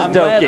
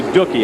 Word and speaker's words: Doki: of the other drivers to get the proper pronunciation of Doki. It is Doki. I'm glad you got that straight, because I was going to say Dookie.